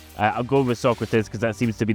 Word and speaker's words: Socrates: Socrates is one of the first icons to come